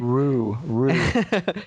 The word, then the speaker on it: Ryu: I say Rue.